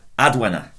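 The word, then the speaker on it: advena: So adwena, all short syllables.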